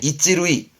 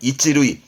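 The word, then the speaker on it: 一塁: 이게 이찌루이, 발음은 이찌루이.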